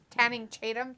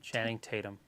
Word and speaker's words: Channing Tatum: called Dog was pretty good with uh yeah tanning Tatum Chatham tanning however you say his name Channing Tatum Channing Tatum that's it oh my God nothing